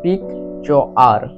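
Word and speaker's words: picture: ই তে র তাহলে পিক চার সমান পিকচার পিকচার মানে হলো ছবি এবং এক্ষেত্রে আর ই তে রয়েছে কেননা ইংরেজি শব্দে লাস্টে ই থাকলে সেটি সাইলেন্ট থাকে ই লেটারটির কোন উচ্চারণ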